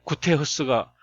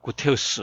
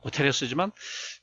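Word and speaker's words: Guterres: 안토니오 마누엘 디 올리베라 구테흐스 이렇게 합니다. 그래서 줄여서 안토니오 구테흐스 이렇게 말합니다. 이 사람은 이제 포르투갈 사람이니까 영어로 읽으면 구테레스죠. 구테레스지만 이제 포르투갈 말로 읽으면 이 리을 발음이 히읗으로 나니까 구테흐스가 된 구테흐스.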